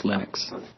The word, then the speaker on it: Linux: became and I really don't care how people pronounce my name but Linux is always Linux he developed a kernel and got it working